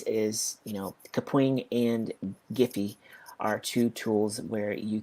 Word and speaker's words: Giphy: of what that stands for and how you pronounce it so it's a gif and this is giphy not jiffy jeff is peanut butter and i'm done okay